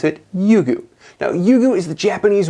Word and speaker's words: Ryugu: December 3rd 2014 and sent it towards asteroid yugu that's how you pronounce it yugu now yugu is the Japanese word for Dragon